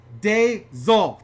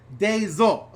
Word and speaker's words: Dezol: Also, no offense, but the more accurate pronunciation is Dezol. Thank you for correcting me. Dezol.